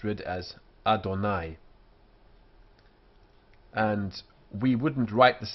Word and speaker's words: Adonai: call it y Orem in a text this is read as Adonai um so as you say here it's read as Adonai and we wouldn't write